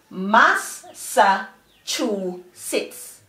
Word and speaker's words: Massachusetts: Generally the E says eh, but this E in this syllable is going to say E. So the syllable is s, it's, sits. S, it's, sits. So the four syllables together are Massachusetts.